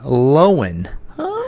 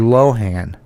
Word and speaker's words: Lohan: She pronounced her last name Lohan as opposed to Lohan, leading some users to